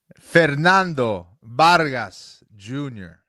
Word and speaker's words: Fernando Vargas: Fernando Vargas Jr. The V's are B's.